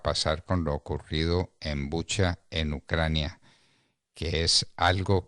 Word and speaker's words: Bucha: En primer lugar, de la pregunta que se hacían hace poco, se dice Bucha. Yo ayer me metí a mirar a ver en ucraniano cómo se pronuncia y se pronuncia en efecto Bucha.